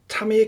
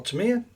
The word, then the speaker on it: Tamiya: the uh nice little tummy kit or Tamia depending on how you pronounce it and where you're from but uh yeah looks